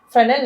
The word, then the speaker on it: Fresnel: Finally, moving on to the third type, which is called the Fresnel lens. Here, the letter S is silent. It is not Fresnel, but it is always read it as Fresnel lens concentrator.